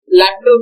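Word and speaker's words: L'Hôpital: We have one more lateral rule. L capital it is pronounced as lateral lateral group.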